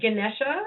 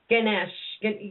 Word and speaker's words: Ganesha: way okay and H how do how do you say his name Ganesh well Ganesha I believe Lord ganesha's they they I'm probably not saying it right but it's either Ganesha or Ganesha either or g a